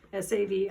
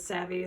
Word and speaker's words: Savi: Savi. Savi means clay in Finnish and in Estonian. My Finnish friends have teased me that I'm redundant saying clay works, but you know, if someone mispronounces it savvy, then savvy kind of means smart.